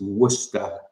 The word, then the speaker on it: Worcester: usually work work Hester so yeah it's it's Worcester sauce trust me it's much easier to say